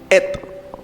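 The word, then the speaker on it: את: Esa cuarta expresión et se escribe con dos letras. del alefato hebreo. La primera que se llama Ale y la última que se llama Tapa. La primera Ale, la última T. Se lee et.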